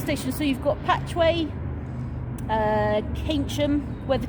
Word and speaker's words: Keynsham: So you've got Patchway, Keynsham, where the 2 custody suites are. Okay. Where's that one? Keynsham. Yeah. So Keynsham is probably about 6 miles that way. Keynsham. Keynsham. How do you spell that?